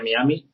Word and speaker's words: Miami: La Real Academia Española indica que la pronunciación de Miami es así, Miami, no es Miami como se dice en Estados Unidos, porque Miami